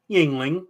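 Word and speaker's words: Yuengling: Jason good to see you how do you pronounce that again Yingling it's the Yingling right there oh I'm sorry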